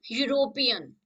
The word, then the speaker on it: European: then find the difference it starts from e but the sound comes of u that is j u so the correct answer